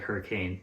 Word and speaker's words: Hurricane: laugh because it is it does look like hurricane but it's pronounced hurricane these are two cities